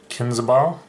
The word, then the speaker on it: Kinsbaile: as it goes bridged hero of kinseball i believe is how it's pronounced it's a four mana